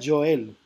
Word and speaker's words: Joel: Se pronuncia Joel. Ah, ok, perdón, Joel.